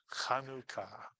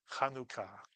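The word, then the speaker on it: חנוכה: Kaneka Kanuka. The actual way to pronounce this word if you're saying it in Hebrew is kanuka. Kanuka kanuka. Kanuka. Two syllable word.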